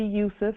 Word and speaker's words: Yusuf: It would be Yusuf. It would be Yusuf or Yosef, because there was no J back then.